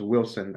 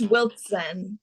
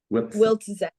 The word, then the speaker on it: Wiltzen: So your last name is I wonder, it's pronounced Wilson, as in like the sporting goods brand, right? It's pronounced the same way. It's Wiltzen. So like Wiltzen.